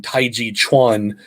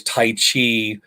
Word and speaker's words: taiji chuan: to train also in taiji chuan which is most people know as tai chi um incorrectly translated and pronounced because the chuan denotes